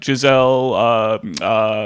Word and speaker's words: Ghislaine: Mossad are obviously tied together, and like famously Giselle Maxwell. Yes, yeah, Ghislaine Maxwell, Ghislaine. I don't know how to pronounce her name.